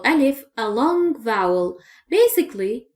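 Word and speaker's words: ألف: Remember I refer to the sound of al if as double A.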